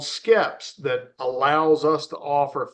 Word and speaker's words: SKEPS: So Skips, is that what you called it? It's called Skeps.